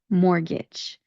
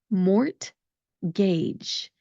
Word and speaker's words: mortgage: What you're going to do is you're going to omit the T that's in the word, that mort part of the word.